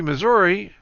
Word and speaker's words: Missouri: a Greenberg production and Kansas City Missouri or Missour however you want to pronounce it January 4th and